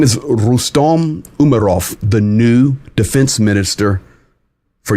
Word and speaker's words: Rustem Umerov: His name is Rustem Umerov, the new defense minister for Ukraine.